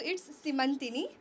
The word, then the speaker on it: सिमंतिनी: तो बहुत basically pronounce नहीं होता है तो मैं ही बता देती हूँ, इट्स सिमंतिनी.